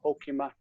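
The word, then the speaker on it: הקימת: Untilat min ar'a ve'al raglain ke enash hakimat. Ho, the first syllable is O, hokimat.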